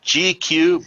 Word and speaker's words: G-Que: we have jason ganahl he's the founder of gq barbecue and he is the maestro of meat